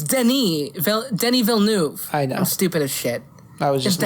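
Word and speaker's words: Denis Villeneuve: slate despite legendary and dennis how do i pronounce this good luck dennis vil we knew it let me look this up yeah something like that oh it's denis denny villeneuve i know i'm stupid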